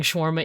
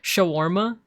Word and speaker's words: shawarma: Sorry you saying schwarma English as there's a sound there's an a in there shawarma schwarma I sent that